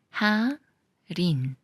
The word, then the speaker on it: 할인: 리을이 되면서 잘 찰라이 말은 할인인데 리얼과 만난 이응이라고 그래서 하린 하린 이것은 살 때라는